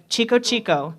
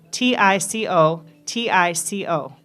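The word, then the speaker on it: Tico-Tico: other arrangements of this popular tune, Chico Chico, Tico, Tico. That's how it's spelled.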